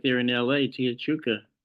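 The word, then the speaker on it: Tia Chucha: right there in La Tia Chuka am I saying it right Tony Lis Luis Rodriguez chucha yeah t chucha and noi press in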